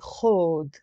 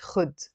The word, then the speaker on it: خود: So if I want to say to someone, take my life, I say خود. مش خد in Lebanese.